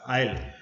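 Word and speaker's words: aisle: So S is going to be silent.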